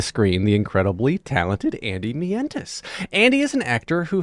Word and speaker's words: Mientus: Mientus.